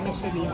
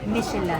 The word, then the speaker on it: Michelin: micheline star pero ang ang tamang pronunciation daw ng micheline ay Michel star so ang swerte natin